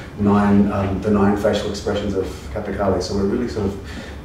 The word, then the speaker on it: Kathakali: Kathakali is the way to pronounce it.